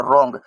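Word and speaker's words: wrong: ये डब्ल्यू को हटा देंगे तो रॉन्ग ये आर ओ एन जी रॉन्ग इसी को बोलते हैं।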